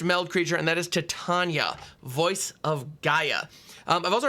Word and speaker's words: Titania: But we are going to be looking at our first meld creature, and that is Titania, Voice of Gaea. I've also heard a lot of discussion. Is it pronounced Titania?